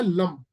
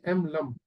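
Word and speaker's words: लं: उसमें क्या करना है, जैसे एग्जांपल के तौर पर रूट चक्रा का जो बीज मंत्र है वो है लम, LAM, लम। तो उसमें उच्चारण चलता है लम।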